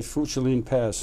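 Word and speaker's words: Funchilin Pass: I'm going to mispronounce something here. The Funchalin Pass, is that it? That's right, Funchalin Pass.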